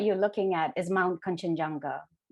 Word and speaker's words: Kanchenjunga: And the mountain, the image that you're looking at is Mount Kanchenjunga. In my language, we would pronounce it Kangsujeonga.